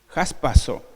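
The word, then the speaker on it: jarpazo: de Corintios el paso J a r p a acento en la a Z o jaspazo arrebatar apoderarse levantar Air apresuradamente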